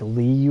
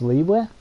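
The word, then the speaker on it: Liyue: there you go yeah so it's spelled anyway l-i-y-u-e i was always pronouncing it like lee uh or something i don't know but i guess it's leeway something like that yeah well correct me if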